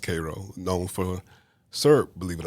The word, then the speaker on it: Cairo: I am originally from South Georgia, a little small town called Cairo, spelled like Cairo, but pronounced Cairo, known for syrup, believe it or not.